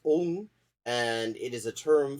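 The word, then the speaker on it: ông: flex on top of it a carrot it's pronounced om and it is a term for a man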